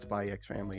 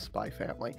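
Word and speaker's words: Spy × Family: Okay, because I know Hunter Hunter, just like with Spy Family, it's not Spy X Family, it's Spy Family. I don't care. I don't care if people pronounce the X because the X is there.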